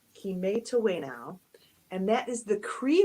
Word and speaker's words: kimetawena: That word here under the title is pronounced Kimetawena, and that is the Cree word for we all play.